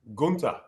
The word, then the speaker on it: Gunther: Gunther.